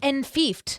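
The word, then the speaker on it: enfeoffed: Oh, it's enfiefed. Yeah. And like fiefdom.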